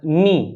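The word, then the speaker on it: knee: य पर इसका एग्जांपल देखेंगे के कहां पर साइलेंट होगा जैसे कि नी नी का मतलब होता घुटना तो यहां पर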